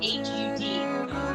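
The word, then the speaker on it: Har: Okay, now this pointed straight ahead, and you're going to gaze straight ahead, eyes are open, and you chant Hut, H-A-R, but it's pronounced like H-U-D.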